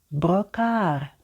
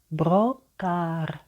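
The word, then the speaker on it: Brocard: читається щіпки Сінна молодці брокар брокар літера де на кінці не читається братан розім'ялись молодці і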